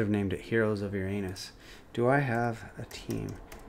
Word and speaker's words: Uranus: space, and they don't know that it's actually pronounced Uranus.